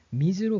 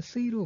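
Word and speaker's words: 水: 같은 물 숫자이지만 미즈로 발음이 되기도 하고 어떨 때는 스이로 발음이 될 때도 있죠.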